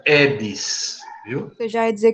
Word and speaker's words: Aedes: edes certo edes eg se falar aedes diga que nem me conhece viu gente se pronuncia edes Viu você já ia